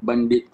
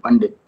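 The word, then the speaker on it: บัณฑิต: For the BA degree, we have the name Bandit. Ba is pronounced as Ba according to Thai phonology, so we have Pandit.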